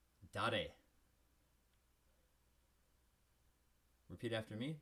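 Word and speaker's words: 誰: And who in Japanese is pronounced dare. Repeat after me, dare.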